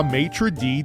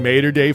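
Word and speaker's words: Mater Dei: This game saw Matraee defeat St. Thomas Aquinus 26 to 23. Matraee, their motto must be we serve up football. Yes, yes, I know it's pronounced mater in materday football is all about safety.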